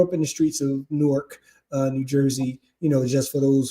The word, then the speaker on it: Newark: But it's one whole syllable, Newark, like Fort Newark.